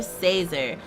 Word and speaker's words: Cesar: doing it on purpose it's Professor Cesar like laser but with the Z how hard is that